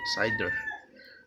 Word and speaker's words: CIDR: Classless interdomain routing CID are pronounced CIDR.